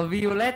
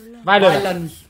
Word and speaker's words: violence: Nó không đọc là Violet thầy ạ, nó đọc là Violet. Violence.